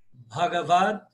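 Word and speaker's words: भगवद्: A pronúncia é essa, Bagavad.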